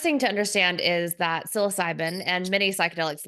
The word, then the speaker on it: psilocybin: So, it's funny because my next question is, how did psilocybin, I don't know how to pronounce that.